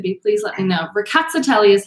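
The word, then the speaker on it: Rkatsiteli: ricotta telly um so the emphasis is on the cat and the tail um so ricatzitelli is pretty much how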